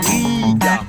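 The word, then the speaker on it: Rīga: Je viens insister sur le Riga, parce qu'il y a un trait au-dessus du i.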